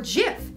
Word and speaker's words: GIF: Even the creator said that it's JIF, so if he said it, it's JIF. The Oxford Dictionary accepts both pronunciations, and they are wrong. It's a soft G, pronounced JIF.